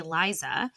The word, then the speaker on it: Liza: because you want to look at Lisa's name and say Liza and you want to